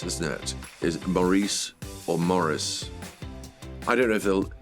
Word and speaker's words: Maurice: where Terry pratchett's like it's actually Morris oh no well I look stupid police he says it all the time Maurice Maurice Maurice I say Morris Maurice well obviously there's only one correct pronunciation and that is Morris or Maurice take your pick honestly well it depends